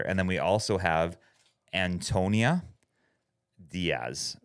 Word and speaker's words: Antonia Díaz: And then we also have Antonia Diaz. That's right. You're one of the first to pronounce my name exactly right.